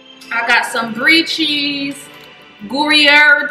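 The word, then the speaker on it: Gruyère: got some brie cheese gourier cheese is how you pronounce it and then i got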